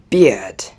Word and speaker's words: beard: This one is beard. Beard. It has the same deep tone as beer. Really, it's very similar to beer, except for the final D sound at the end.